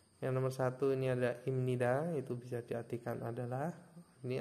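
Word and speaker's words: 입니다: hukum bacaan menjadi imnida nah pipnya ini kalau misalkan dibaca sesuai satuan suku kata itu kan menjadi IB nid Ya tapi kalau misalkan di sini Jika bnya Bertemu dengan Nien ya itu bepnya menjadi M atau miem bacanya menjadi imnida nomor dua ada i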